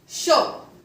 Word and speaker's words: chaud: For example, show. CH का sound होता है sh. AU का O. D is not pronounced because in French language the last consonant of any word is not pronounced.